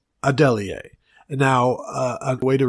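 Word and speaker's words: Adeleye: We got it close, but it is Tunmise, and it is Adelier. And now a way to remember this is be like somebody suggests Adeli, and you're like, Adelier?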